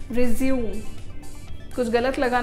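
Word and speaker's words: résumé: ये word English का नहीं है, ये किसी फॉरेन लैंग्वेज से लिया गया है, लेकिन इसको एज इट इज़ ले लिया गया है, इसलिए इसका प्रोनाउंसिएशन थोड़ा सा हटके होता है। इसकी स्पेलिंग तो रिज्यूम वाली ही है, लेकिन इसका प्रोनंसिएशन रेज्यूमे। रेज्यूमे क्या होता है?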